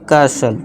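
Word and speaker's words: castle: कर्सल। ठीक है दोस्तों? कर्सल। टी के बाद एल इ है। एल इ एल इ को साइलेंट कर दिया।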